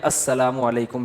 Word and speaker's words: السلام علیکم: میرے بھائی کا السلام علیکم اور صلی اللہ علیہ وسلم کا صحیح تلفظ بتا دیں. السلام علیکم کا ہے السلام علیکم, جو آج کل لوگوں نے ساشے پیش کر